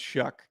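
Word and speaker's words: Shough: o u g but it's pronounced shuck it doesn't have a K in it yeah I don't s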